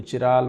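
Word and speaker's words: chiral: कायरल बोलता है, कोई चिराल बोलता है, जो भी आपको अच्छा लगे, ठीक है ना, वो है।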